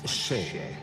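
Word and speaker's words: še: Le mot orge en sumérien se prononce chez.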